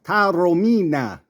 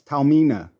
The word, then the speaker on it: Taormina: name in Italian it's Tarina in English the r is silent it's Tamina so he turned Pro